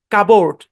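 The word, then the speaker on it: cupboard: যেমন দেখেন কাবোর্ড, এটাকে এই বরাবর ভাগ করলে কিন্তু কাপবোর্ড হওয়ার কথা, কিন্তু না, কাবোর্ড।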